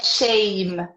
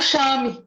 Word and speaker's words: shame: Ela é escrita com A, mas você fala shame, que é vergonha. Então, as pessoas geralmente não prestam atenção nisso. Elas falam chame, por exemplo.